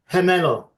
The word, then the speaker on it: gemelo: Would you allow me to take brief issue with your pronunciation Oh, please do. since I'm fluent in Spanish? Yes, please do. Uh, Gemelo.